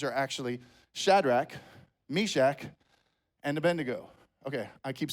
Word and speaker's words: Abednego: It's Abednego.